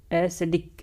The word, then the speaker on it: ascetic: इसका प्रोनाउंसिएशन ध्यान रखें. एस्थेटिक.